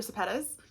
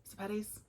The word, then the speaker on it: Sepetys: Next up, and I just read this one this year, and this was Ruta Sepetys. Sepetys?